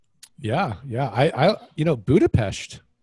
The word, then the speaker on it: Budapest: I you know, Budapest, which I just pronounced correctly, by the way. And the only reason I know how to pronounce it, like the Pest, is because my the lady that cuts my hair is actually Hungarian.